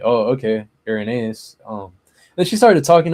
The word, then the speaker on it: Irenaeus: like and then she was like, "No, uh, Uranus or some, you know, whatever, however she pronounced it." Um, so I was like confused. I was like, "Oh, okay. Urenaeus."